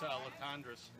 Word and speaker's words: Latendress: It's Latendress. Latendress is how they're telling us it's supposed to be pronounced.